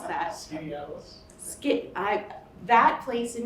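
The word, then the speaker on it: Skaneateles: Warren, how do you pronounce that? Skinny Atlas.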